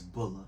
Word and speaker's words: Bulla: How you pronounce it? It's Bulla. Bulla, yeah, okay.